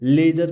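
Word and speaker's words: ledger: लेजर, ये लेडजर नहीं पढ़ेंगे, इसको हम लेजर पढ़ेंगे क्योंकि डी के बाद क्या आ रहा है? जी ई। जैसा कि हमारा रूल है कि यदि डी के बाद जी ई हो तो डी साइलेंट हो जाता है।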